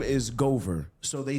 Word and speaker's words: Goover: like true story major so my name is Gover so they said what yeah Gover so they